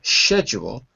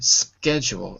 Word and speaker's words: schedule: that's what I mean the word schedule is American and the pronunciation of it as a sh as in schedule is British English which is the way that you said it right so that's what I want to draw your attention to differences like that so both are correct but the second my version schedule is American English okay any other pronunciation